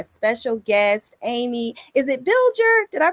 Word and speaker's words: Bilger: Is it Biller? Did I pronounce that?